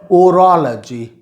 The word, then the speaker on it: orology: It is pronounced in 3 ways. 3 तरह से ये शब्द बोला जा सकता है। कुछ लोग इसको अरोलॉजी भी बोलते हैं, कुछ लोग इसको ओरोलॉजी भी बोलते हैं, और कुछ लोग इसको